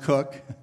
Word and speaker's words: Coke: In approximately 1600, Sir Edward Coke, usually pronounced Cook, produced the consolidation of the English law in written form.